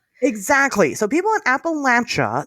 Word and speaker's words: Appalachia: So if you ever forget, now you know it's Appalachia. And and we know this because the name Appalachia comes from a very distinct tribe in that area known as the Appalache tribe.